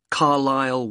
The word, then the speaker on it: Carlisle: Carlisle Way. Could you spell Carlisle for me? Sorry. It's C-A-R-L-I-S-L-E. You don't pronounce the S.